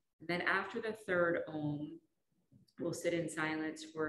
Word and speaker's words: om: of the breath so think of the sound of ohm as it's spelled which is a u m so making the ah the m is bringing your lips together and then the silent part